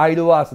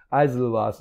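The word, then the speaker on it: Isleworth: アイルワースこれがあの日本語ではアイルワースのモだって言われてんだけどま正しい発音だったアイルワースアズルワースのモナリザうんと呼ば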